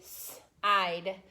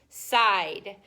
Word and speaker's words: side: So the first vowel is long, the second vowel is silent. So ready? Side. Side.